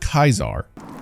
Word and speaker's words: Caesar: have noticed is that the legion doesn't really pronounce Latin words like you'd expect like Caesar and kaisar you must enter Kaiser's tent alone anyone else must remain outside side Josh Sawyer Project Director for New Vegas says the pronunciation of Latin in the game is based on classical not ecclesiastic rules of pronunciation while it is difficult